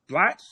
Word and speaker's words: Blatch: Blatch? Am I pronouncing that right?